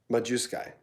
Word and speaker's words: Majewski: Oh, it's not ski, it's sky. Yeah. Majewski. Oh, it's ski.